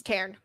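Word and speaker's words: Tairn: to me it's just tan tane because I can't yeah yeah like like including the r I'll go tan but it's like the r and the N kind of make the word two syllables yeah well my mouth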